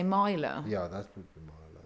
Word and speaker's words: Mila: George's assuming the word Mila is pronounced Myla. M-Y? You said M-Y-L-A. But Mila Kunis M-I-L-A. is M-I-L-A.